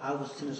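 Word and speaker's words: Augustinus: 것이라고 발음해서 안 돼요 아구스티누스 어 어 영어로는 이제 오거스틴이라 그렇게 말하죠 그근데 이도 잘못된 거죠 그 하간 나는 그래서 꼭 아고스티노 발음합니다 그는 그의 경남과 교육 즉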